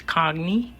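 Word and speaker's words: congee: food in Malaysia often I believe the pronunciation of this is cogy often served with ginger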